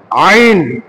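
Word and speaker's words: ع: আইন আইন টাকে এটাকে কণ্ঠনালীর মধ্যখানে চাপ দিয়ে কণ্ঠনালীর মধ্যখানে তাহলে আইন টাকে আমরা কিভাবে উচ্চারণ করব কন্ঠনীর মধ্যখানে চাপ দিয়ে কন্ঠনের মধ্যখানে যদি চাপ দেই তখন হবে আইন আইন চাপ দেই দেখি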